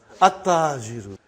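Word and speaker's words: التاجر: How will you pronounce this now? At-tajiru. You did not pronounce lam. Okay, you did not pronounce, you skipped it.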